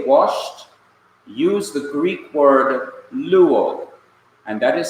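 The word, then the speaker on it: λύω: And notice, both Greek words are pronounced in the same way. L-O-U-O is pronounced luo, and L-U-O is pronounced luo.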